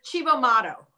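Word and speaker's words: Cibo Matto: I can't pronounce it. It's Chibo Motto is the band.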